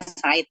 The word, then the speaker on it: Cite: Terus klik ini di atas, ini ya, ADD folder sing Cite, tulisannya Cite, membacanya Said ya.